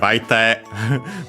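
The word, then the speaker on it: 相手: Then we have aite. We've seen it a lot in this very series because it means opponent in our case. In general, other party or companion. Accent on the last mora.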